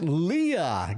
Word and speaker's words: Leah: It's pronounced Leah. Gotcha.